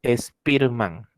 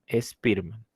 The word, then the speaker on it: Spearman: la teoría be factorial de spearman así se pronuncia su apellido por si acaso spearman spearman charles spearman propuso que la inteligencia se compone